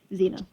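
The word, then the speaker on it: Xena: your contractor's name uh her name is Zena no seen that that ring any bells no okay uh but I will tell you how to spell it it's x e n a Zena I did Z uh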